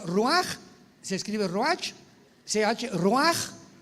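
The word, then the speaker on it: רוח: Por eso el Espíritu Santo se pronuncia roaj, se escribe roach, ch.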